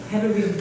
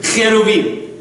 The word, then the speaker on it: cherubim: Cherubim. Cherubim.